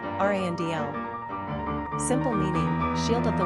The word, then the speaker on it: Randall: Number of syllables, 2. Ranking popularity, 833. Pronunciation, Randl.